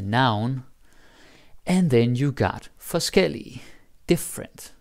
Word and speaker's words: forskellig: And then you got forskellig, different. Like the adjective, so forskel and forskellig. Now the pronunciation is also different, right? Forskel, forskellig, different stress.